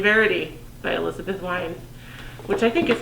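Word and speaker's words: Wein: name um the last the author's last last name is w-e-i-n which i guess could be a ween but wine i think is probably how it is pronounced regardless codename verity is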